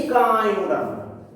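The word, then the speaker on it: Echinoderma: মোলাস্কার পর আমরা যেটাতে যাচ্ছি সেটা কি ইকাইনোডার্মা। নামটা ভালো উচ্চারণ করি, ইকাইন, ICHINO, ডার্মাটা DARMA, ইকাইন কথাটার অর্থ হলো কণ্ঠক, ডার্ম মানে হচ্ছে ত্বক, অর্থাৎ এদের ফার্স্ট পয়েন্ট হলো দেহ এদিকে কাঁটাযুক্ত ত্বক বর্তমান।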